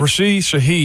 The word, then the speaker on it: Rashid Shaheed: that needs just a little bit of help, Rashid Shaheed, how you say it? Yeah, you got it right. Rashid Shaheed.